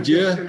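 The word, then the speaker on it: Győr: say yeah good yeah g y is actually pronounced like a d yeah yeah yeah okay yeah from to dear hungary i'm just going to say dior yeah well okay i'm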